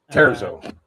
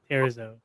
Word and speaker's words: Terzo: I wasn't sure if you went with the Spanish pronunciation of the Z where it just becomes an S. No, everything everything in my uh in my company is named in Italian with the exception of the name itself.